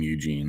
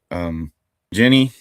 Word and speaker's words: Evgeny: He doesn't pronounce his name Eugene, though. You'll hear that in a moment. Evgeny Afineevsky, Evgeny Afineevsky, grew up in the Soviet Union, became an Israeli citizen.